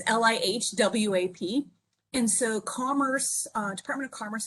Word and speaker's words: LIHWAP: They put in about $1.4 billion nationwide into, I can't really pronounce the acronym, but I'm going to tell you it's like LIHWAP. It's LIHWAP.